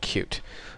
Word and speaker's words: Qt: be covering it's called cute it's spelled cutie but it's pronounced cute and when you search